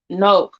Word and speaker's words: Noke: I'm just like, he pronounced it Noke like joke in his court appearance.